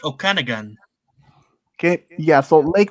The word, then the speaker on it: Okanagan: Canada this is a lake how do you pronounce this um I think I think it's Okanagan okay yeah so Lake Okanagan which is said be the home to a